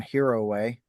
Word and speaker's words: Hiroe: From Heroway.